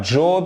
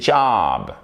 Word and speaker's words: job: Et vous voyez, c'est pas job, c'est pas job, c'est job. C'est un A long.